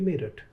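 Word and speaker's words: Meerut: Before we let you go, can you tell me, you were talking about merit. Why merit is spelled like M-E-E-R-U-T? That doesn't sound to be spelling of merit.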